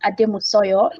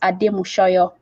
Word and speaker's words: Ademushoyo: I pronounced it Ademusoyo initially, or it's Ademushoyo.